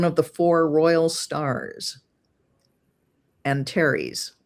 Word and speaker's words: Antares: Antares, if that's how you pronounce it. Yeah, it's Antares.